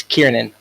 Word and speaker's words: Kiernan: It's Kiernan. Kiernan. Okay, so I was close.